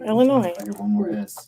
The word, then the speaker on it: Illinois: say this is a test how do you pronounce the state that Chicago's on Illinois right yeah Illinois who's that Illinois I'm dropping bodies I don't